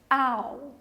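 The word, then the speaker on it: owl: falar coruja em inglês ao atenção nos sítios não tem um ou ali mas a pronúncia é ao Ok próxima palavrinha nós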